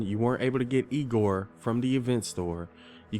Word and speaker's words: Igor: with dim mech Egor now it's pronounced I go but they told me it was Eagle well they were wrong name weren't they and